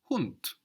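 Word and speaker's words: Hund: the word for dog in German is hunt hunt HT it's spelled hu n d so in English we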